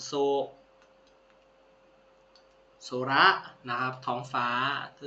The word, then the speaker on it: 空: ครับ โอ๊โตะ ถัด มา ตัว ที่ 3 โซ โซระ นะ ครับ ท้อง ฟ้า ตัว ที่ 4 กับ